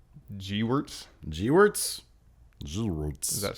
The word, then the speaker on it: Gewirtz: It's not Gerwitz. It's Gewirtz. Gewirtz? Gewirtz. Does that sound right? I don't know. Brian Gerwitz. Is it Gerwitz? No, it's Gewirtz.